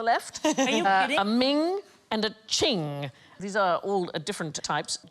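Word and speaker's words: Qing: will get there eventually it rhymes with bling thing thing I like thing most expensive Chinese item ever sold at auction is a Ching vars it went for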